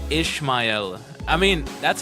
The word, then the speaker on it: Ishmael: Ishmail. Ishmail. No, it's Ishmael. Here it is. This is how it should be pronounced.